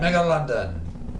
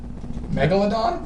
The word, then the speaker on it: Megalodon: from those two as much as I can Mega London l how do you say that one the big shark Megalodon yeah thank you Megalodon what the [ __